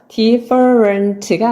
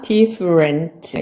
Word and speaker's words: different: 발음을 알고 계셨던 분들은 deferent가 아니라 different가 맞는 발음입니다 느리게 한번 들려드릴게요 the for rant가 아니라 different 이렇게 하는 것이 맞는 발음이라는 것입니다 여러분은 어떨까요